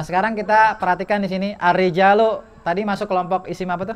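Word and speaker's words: الرِّجَالُ: Para lelaki Bacanya begini, bacanya ar-rijalu. Bukan arijala ya kan? Bukan arijali.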